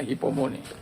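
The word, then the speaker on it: ὑπομονή: Dalam bahasa Yunani, kata hypomone, kalau tulisnya hupomone, bacanya hypomone.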